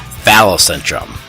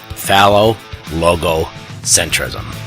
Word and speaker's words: phallogocentrism: Here's a word for you: phallogocentrism. I'm not going to spell it, but basically it's phallic with logo with centrism. And it's not phallocentrum. Phallo-logo-centrism. This word cracks me up.